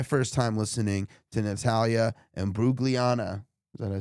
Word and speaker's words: Natalie Imbruglia: Tell them what we're listening to, because I honestly don't know what this is or how to pronounce it. Natalie Imbruglia.